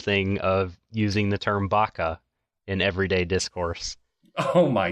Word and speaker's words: Baka: No, the true tech would be if she just literally went, Baka! That's how you pronounce it.